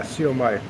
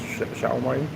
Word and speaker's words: siomai: Yeah, siomai. That's how they sell it, but it's actually pronounced xiaomai.